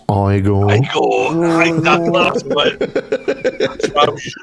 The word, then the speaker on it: Igor: actually, it's pronounced Igor.